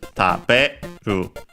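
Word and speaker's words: 食べる: And so, careful that the accent, when in its dictionary form, is taberu.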